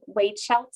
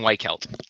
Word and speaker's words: Weichelt: your name for us you got it close it's it's white kelt oh very far actually